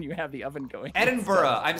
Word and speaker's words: Edinburgh: actually pronounce its name many nonnative English speakers say Edinburg which is not exactly how it should be pronounced should know in fact